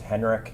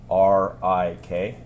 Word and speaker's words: Henrik: Can you please state your name and spell it for the record? Sure. My name is Henrik, Henrik.